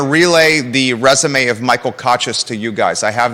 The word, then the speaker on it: Kochis: last name Michael um I've heard it pronounced conscious by nbc29 I believe so Michael cochis yeah okay I was